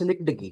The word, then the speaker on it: synecdoche: کیا۔ اس کا تلفظ "synecdoche" ہے۔ ہم نے اس کا تلفظ پہلے غلط کیا تھا، تو آئیے تلفظ درست کریں۔ اسے "synecdoche" کے طور پر پڑھنا چاہیے۔ Synecdoche ہے...اب، اس فائل